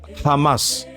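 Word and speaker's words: חמס: Et le mot violence s'écrit chamac mais se prononce Hamas en hébreu.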